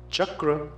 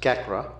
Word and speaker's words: chakra: totally different from chandi Chakra becomes kakra gacha becomes gacha chhatra becomes chatra all of them wrong the second source of